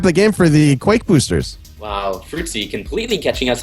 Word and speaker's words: qakboosters: It's supposed to be Quake Boosters.